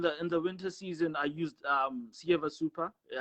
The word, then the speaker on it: Ceva: In the winter season, I used Sieva Super. It's spelled CEVA, then it's Super.